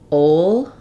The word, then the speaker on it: old: and then old to make sure that the L isn't dropping too much um so yeah it's it's hard to hear it it's not strongly pronounced but it is still there um I do have